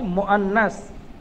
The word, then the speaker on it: মুআন্নাস: আর মেয়েদের জন্য যে শব্দ ব্যবহার হয় আরবিতে, ওই মেয়েকে বলা হয় মুআন্নাস, মিম ওয়াও হামজা সংযুক্ত নুন সা, মুআন্নাস।